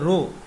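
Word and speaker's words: ρ: এটাকে উচ্চারণটা হবে রো, এইটাকে বলা হয় রো উচ্চারণটা।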